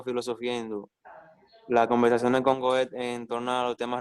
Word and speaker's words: Goethe: ocasión de vincularse con Goethe, y así se pronuncia Goethe. Goethe. En alemán es Goethe. En español sí es Goethe.